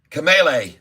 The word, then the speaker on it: Kamala: And I support fully Kamala, or what's her name? Kamala. I was told the pronunciation.